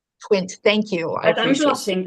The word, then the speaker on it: Twint: Just the pronunciation of the mobile payment app, it's Twint. Twint, thank you.